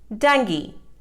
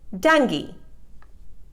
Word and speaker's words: dengue: correct pronunciation is berry dengue it is mispronounced as dengu the correct pronunciation is dengue donkey it is mispronounced